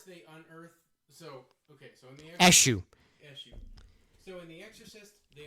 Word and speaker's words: Eshu: It's Eshu. Okay. Hold on. I don't want to be pronouncing wrong the whole time.